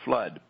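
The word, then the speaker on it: Fludd: may not have uh heard her pronunciation flood f l u d d so Roxy says and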